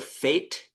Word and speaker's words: Fate: on Wednesday nights, and it's like spelled like hate, but with an F, the Fate.